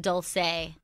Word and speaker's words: Dulce: because I've been saying Dolce Sloan she pronounces it Dulce like the Spanish way I've been saying an Italian way like you Chris quite